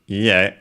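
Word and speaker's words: いいえ: Technically accented on the last syllable.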